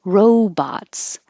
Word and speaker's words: robots: Mobile is the American pronunciation. Autonomous. Autonomous. And robots.